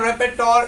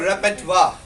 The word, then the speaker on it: repertoire: That is not repertoire, it is called repertoire.